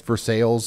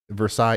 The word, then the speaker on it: Versailles: um pronounces it differently I guess versales is how we say it in Versailles yeah it's Versailles chat